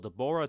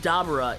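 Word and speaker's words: Dabura: We know that Dabber is equal in power to per actually Dabber is probably the correct pronunciation because it's Abracadabra.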